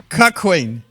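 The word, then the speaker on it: cuckquean: Cuckween. But it's spelled C-U-C-K.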